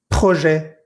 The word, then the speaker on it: projet: En ninguna de estas palabras pronuncié la T que va al final, pero sí pronuncié la E que va antes de la T.